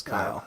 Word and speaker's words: Kail: Yeah, it looks like Kail, looks like but Kail. it's Kyle.